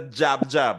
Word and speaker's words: jab: How do you spell jab in Patwa? Now that you're all enlightened. How do you spell jab? EJB. EJB, yes. EJB. Jab, right? Jab.